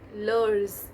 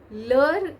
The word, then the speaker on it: leurs: So with ils, else, we use leur, leurs. Again, it's not pronounced as leurs, let me tell you, but just for